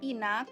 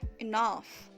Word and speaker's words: enough: Jangan lagi dibaca inak atau inok, tapi dibaca enough.